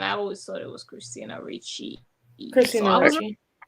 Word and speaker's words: Christina Ricci: But since we're on the topic, how do you pronounce that? Christina Ricci or Christina Ricci? I always had trouble. Christina Ricci.